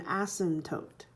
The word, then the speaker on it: asymptote: would pronounce this an asymptote you don't pronounce the P there an asymptote is a